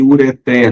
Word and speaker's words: ureter: novel é novato Condor cateter e ureter não é cateter nem uret por favor não é